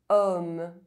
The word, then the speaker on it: homme: O is pronounced O when followed by a pronounced consonant other than a Z sound. Homme.